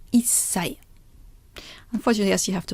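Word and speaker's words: 一歳: So instead of ichisai, it becomes issai.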